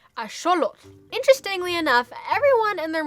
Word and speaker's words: axolotl: mother basically mispronounces axolotl it actually comes from the nahuatl language which is the aztec language it's still spoken in mexico today and seeing as it is a native word if you were to pronounce it properly the x would have an sh sound and the tl at the end would not be tull but like a t and then the air should come out the sides of